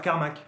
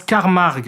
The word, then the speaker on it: Carmack: Le professeur Carmack. Non, ça se prononce Carmarg, qui s'arrache une oreille